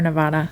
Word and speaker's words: Nevada: up so Nevada and then do you say Nevada or Nevada I think I say Nevada and yeah and